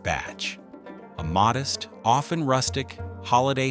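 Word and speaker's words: bach: The classic Kiwi holiday is a trip to the botch, pronounced batch, a modest, often rustic, holiday home by the sea, where life is simple and focused on family and nature.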